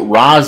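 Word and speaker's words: Ra's: danny meant it but raz is how it should be pronounced in arabic but then there's also the argument that race is how it would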